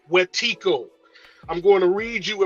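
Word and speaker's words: wetiko: a cycle spiritual disease called wetico spelled w-e-t-i-k-o all who are watching this must go look this up w-e-t-i-k-o is pronounced wetico I'm going to read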